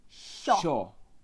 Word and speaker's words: yo: think we have, that you can say in Spanish for the word I, yo. Yo. Yo. Or, as we learned yesterday, in Argentina, they say sho. They pronounce the Y sound as a Sh.